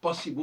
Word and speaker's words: possible: Possible, on ne prononce pas le E final.